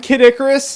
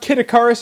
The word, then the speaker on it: Kid Icarus: the 3DS Legend of Zelda Ocarina of Time kidicarus and if you've ever wondered if it's pronounced kidicarus or Kid Icarus it's Icarus Icarus thus saith